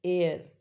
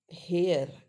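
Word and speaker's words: heir: Honour right and एन एयर इट्स एयर इट्स नॉट हेयर इट्स एयर right जो आपको क्या बोलते हैं प्रॉपर्टी मिलती है।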